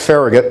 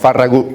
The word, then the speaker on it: Farragut: I know they pronounce it Farragut back in Washington. Farragut, it's a Catalan name.